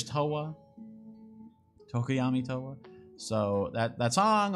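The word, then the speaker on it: Towa: a certain Hololive member whose name rhymes with boa, starts with a T, ends with oa, and is Toa.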